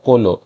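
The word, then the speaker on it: colo-: Mainly কোলোই উচ্চারণ হবে, single শুধু প্রিফিক্সটা উচ্চারণ করতে তুমি হয়তোবা চোলো উচ্চারণ করতে পারো, কিন্তু এইটা মেইনলি যেটাকে ইন্ডিকেট করে সেটা হচ্ছে কোলনকে। সো এখানে চোলো উচ্চারণ না, এখানে হচ্ছে কোলো উচ্চারণ হবে।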